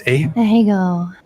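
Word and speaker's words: Ahegao: How's it pronounced? Ahego.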